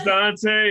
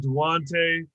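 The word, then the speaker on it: Duance: me i've done so my name's dante it's spelled all up yeah it's d-u-a-n-c-e i wait again yeah i get dwante dwayne even wants sometimes seems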